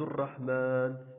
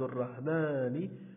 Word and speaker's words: الرحمن: كذلك بالنسبة لعبد الرحمن، إذا نقول عبد الرحمن، إذا نلفظ الألف ولا نكتبه.